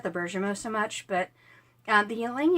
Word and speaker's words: bergamot: And I've heard this pronounced bergamot. I've always pronounced it the French way, which is bergamot.